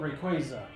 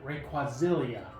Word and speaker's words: Rayquaza: but I called it rayquazillia it could be worse I called it rayquazillia and there's no l in there I don't think there's